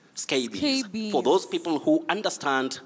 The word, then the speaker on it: scabies: scabies that plural s the plural s is pronounced like a z it takes what we